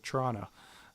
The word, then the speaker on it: Toronto: you mean toronto um or as locals say toronto um like with the ch i'm pretty sure yeah yeah you gotta drop the first o for sure oh yeah yeah you just drop it all um cool at the